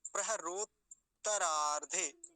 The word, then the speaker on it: प्रहरोत्तरार्धे: प्रहरोत्तरार्धे, दोनों का उच्चारण हो जाना चाहिए, दोनों तकार का, नहीं तो अगर कई बार जैसे सावधानी नहीं होती तो कैसे बोल के निकल जाते हैं हम, प्रहरोत्तरार्धे, वो एक ता को छोड़ देते हैं बीच में, बोलेंगे कैसे वो देख